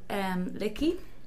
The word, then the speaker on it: Lickey: I have a photo shoot with Michael Lickey. That's how you pronounce the surname.